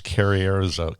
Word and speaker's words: Carrizozo: I have no idea how to pronounce that. Road trip. Carrizozo? New Mexico? I've been there. It's Carrierizo.